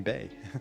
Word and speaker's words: Bex: idea where's the dean bay there's a city very close to me it's spelled bex and we call it bay oh i mean that's the obviously the french pronunciation um like as you